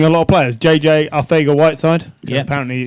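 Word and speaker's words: Arcega-Whiteside: lot of players JJ ARA Whit side apparently you don't pronounce the C it's just ARA whide he was their number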